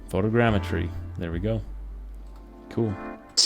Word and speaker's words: photogrammetry: yep yep let's see here going to google pronounce it photogrammetry photogrammetry there we go cool this has been sort